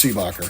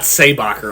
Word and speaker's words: Seabacker: Clearly that name's Seabacker. Yeah, it is. 100%. It's not Saybacher.